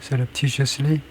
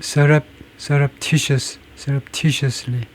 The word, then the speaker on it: surreptitiously: surreptitiously 발음이 surreptitiously 그래서 프라이머리 액센트가 tediously입니다.